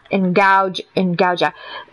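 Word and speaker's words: Ngaujah: S-A-H-R, pronounced Saw, S-A-H-R, and his last name is N-G-A-U-J, Ngauja, hang on, I can't spell and play Overwatch at the same time.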